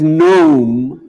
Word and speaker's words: gnome: no of course not why is gnome g-n-o-m-e meaning a goblin spelled with a g precisely because it shouldn't